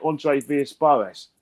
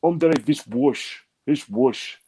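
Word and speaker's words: André Villas-Boas: Yeah, but like for instance, you got people who say Andre Villas-Boas. No, it's not. It's Andre Villas-Boas. That's how you pronounce it in Portuguese.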